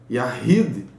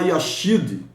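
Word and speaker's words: יחיד: O Shet, que é o RET é Yahid. Você não vai falar Yashid, você translitera CH, mas você fala RR. Então Yahid, você usa dessa forma para falar essa palavra, é a pronúncia dela, tá?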